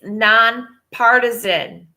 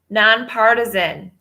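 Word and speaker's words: nonpartisan: partisan partisan alright so I pronounce that word incorrectly it's non partisan partisan non partisan you know in PA RT is a n non partisan not based on partisan especially toward any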